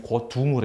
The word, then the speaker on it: 거둥: 임금님이 가마를 움직일 할 때는 움직일 동이라고 써놓고서는 읽을 때는 둥이라고 읽습니다. 그래서 임금님을 가마는 거동하는 게 아니고 거둥을 해요.